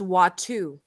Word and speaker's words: Watto: and be named person I think it's actually pronounced watu thank you thank you